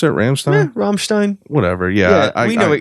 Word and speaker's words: Rammstein: Is that how you pronounce it? Rammstein? Yeah, Rammstein.